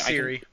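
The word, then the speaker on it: Ciri: was going uh is that how you actually pronounce her name right Siri it's Siri okay um oh great now I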